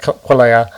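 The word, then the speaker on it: quelea: I will point out there's a number of different ways to pronounce the name of this bird. I'm just going with quailea.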